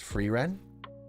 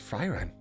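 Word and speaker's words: Frieren: down a little bit it's actually pronounced freeren I thought it was fryron not bad you may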